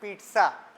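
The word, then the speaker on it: pizza: दिया हमने पि है भले ही स्पेलिंग में दो बार जड आ रहा हो लेकिन इसका करेक्ट प्रोनंसिएशन है पीटस कहीं ऑर्डर भी करोगे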